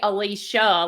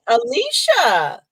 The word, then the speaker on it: Alyssa: or how it's spelled I say Alicia like it has an sh in it okay okay I like that I like that Alicia yes I love that